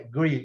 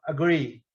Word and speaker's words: agree: Vocês veem aqui, esse símbolozinho é o símbolo da letra, a gente diz, da sílaba tônica, né? Agree. Esse A ele não é pronunciado, ele é uma mistura de A com E, porque a sílaba forte, vocês estão vendo aqui esse pontinho em cima, é agree. Então, agree.